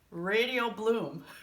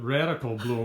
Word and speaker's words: Radial Bloom: Yes, Radial Bloom. I mispronounced it the first take that we did. Phil goes, he just raised his eyebrows and shakes his head no, so I go, oh, well, okay. You called it a radical bloom.